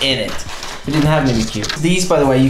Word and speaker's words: Mimikyu: And actually, I don't know what to pronounce the name. Is Mimikyu? Mimikyu? No, Mimikyu.